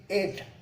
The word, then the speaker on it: ate: जैसे ईट, उसका past tense ATE, EAT, ईट का पास्ट टेंस ATE, एट। इसका ईट, इसका उच्चार होगा, प्रोनाउंसिएशन एट।